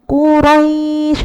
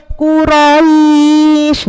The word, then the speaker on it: Quraisy: Jadi, jenengan bacanya quraisy harus lembut. Enggak boleh quraisy.